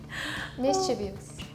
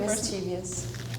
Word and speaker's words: mischievous: we don't take it mischievous yeah mischievous it's really tricky like mischievous mischiefs mischievous okay and this is on the last syllable instead of the middle one which is which comes